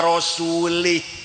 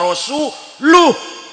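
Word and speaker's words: رسوله: Ada orang baca Quran, innallaha bari'um minal musyrikina wa rasulih. Allah tidak melindungi orang musyrik dan tidak melindungi rasulnya. Salah. Bacanya innallaha bari'um minal musyrikina wa rasuluh.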